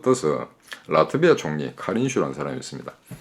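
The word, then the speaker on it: Kariņš: 근데 한수를 더 떠서 라트비아 총리 카린슈라는 사람이 있습니다. 스페링은 카린스인데 그쪽 발음은 카린슈가 되는 모양입니다.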